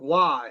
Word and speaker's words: Roy: and they're the goalie Patrick Waugh, his last name is spelled ROY. Yep.